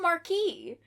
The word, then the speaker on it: Marquis: In 1898 when Sherlock Holmes invited me to accompany him on a visit to the Marquis of Cunningham. It's pronounced Marquee. Marquis. It's Marquis.